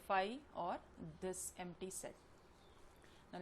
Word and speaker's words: phi: empty set will be with the Greek letter phi. This is PHI phi, इसको इस तरह से pronounce करेंगे और खाली एक curly bracket बना देंगे.